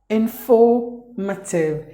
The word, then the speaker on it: informative: And the next word is informative. Informative. There are 4 syllables in this word. The letter R is silent, the letter E is silent, according to this British English.